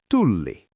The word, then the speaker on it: Tulli: You have to stretch that L. Tulli. Student, try tulli. Tulli. Exactly. If you say tuli at the airport, they think you're shouting fire. If you say tulli, they know you are looking for the customs desk. Length changes the meaning completely.